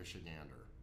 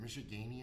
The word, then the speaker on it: Michigander: And people go, is it Michiganian? And I'm like, no, it's Michigander.